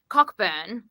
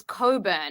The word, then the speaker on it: Cockburn: Australia or something anyway it's um cockburn but they were like no it's Coburn and I'm like it's cockburn like cockburn panical pronunciations